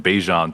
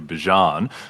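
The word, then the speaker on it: Bijan: Uh Bjan has changed his pronunciation from Bejian to Bjan.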